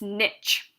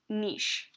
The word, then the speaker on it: niche: nique within its ecosystem is called its niche or sometimes pronounced niche either pronunciation will do for this class to understand this concept